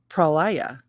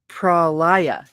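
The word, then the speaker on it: pralaya: and cosmic night night with its dark pro prolia is the father mother of creation black darkness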